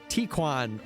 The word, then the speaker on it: Tequan: Tequan rhymes with pecan.